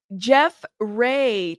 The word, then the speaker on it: Giuffre: Okay, Giuffre. Giuffre. See, now you're writing it different. Y'all are killing me. Okay. Jeff Ray.